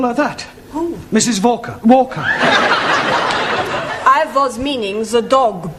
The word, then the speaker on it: Walker: Walker Walker but W is pronounced well your employer's name is Walker yeah Valka do you know how many shots mrs.